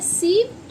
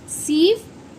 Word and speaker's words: sieve: बच्चों, इसको बोलते हैं सीव ऑफ रथोथिनेस। सीव ऑफ, ई इसमें साइलेंट होगा, सीव ऑफ रथोथिनेस, रथोथिनेस, थिनेस।